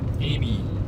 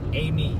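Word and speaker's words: Aimee: Amy Amy Amy Amy HD.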